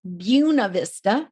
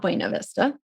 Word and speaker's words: Buena Vista: not from colorado so it's buena vista not bueno vista oh it's not it's not spanish no we prefer to pronounce our words otherwise oh so it is